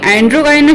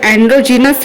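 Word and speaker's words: androgynous: पिछले कुछ वीडियो में मैंने एंड्रोगाइनस शब्द का उच्चारण गलत किया था। इसका सही उच्चारण एंड्रोजीनस है।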